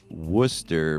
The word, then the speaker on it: Worcester: I remember going to a show in Worcester, Massachusetts. Oh, that's how you pronounce it.